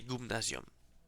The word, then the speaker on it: gumnasium: C'est mettons le gumnasium Y en ancien Y ça se prononce U ou c'eston c'est la lettre c'est gumnasium.